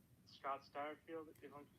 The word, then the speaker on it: Satterfield: Scott Satterfield, if I'm pronouncing that correctly? Yeah, Satterfield.